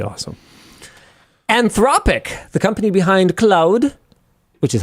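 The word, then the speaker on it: Claude: Anthropic, the company behind cloud, which is how I pronounce it, accidentally leaked the entire source code of cloud code, the AI powered coding assistant on March 31st.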